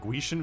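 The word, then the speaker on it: Gwisin: After that, we have the Guizin Vest, which I think Dado pronounces it Guishin Vest.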